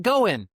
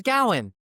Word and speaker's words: Gowen: It looks like Goen, but it's Gowen. And so I I go talk to the doc. Hey, how you doing there, Mr. Goen? My name is Mr. Gowen.